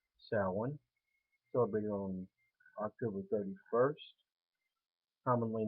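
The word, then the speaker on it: Samhain: be salon mini like mispronounce it by saying champagne but it is pronounced salon celebrated on october 31st commonly known as halloween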